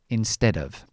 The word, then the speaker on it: instead of: Now this um is very the the pronunciation of instead of is in ste and then dov, which I'm going to leave it in the schwa, dov. Instead of, in ste dov, instead of.